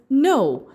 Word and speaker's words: know: First word is no spelled as K N O W. But when we pronounce it, it is said as N O W K is a silent letter.